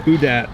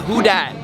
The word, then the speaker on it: Who Dat: go to new orleans you need to know how to say it the who dad oh who dat yeah so so repeat after me who dat uh it's that guy